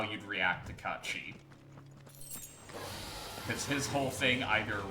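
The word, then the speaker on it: Cait Sith: Kate Sith is how it's written, but it's pronounced Kachi. It's Gaelic.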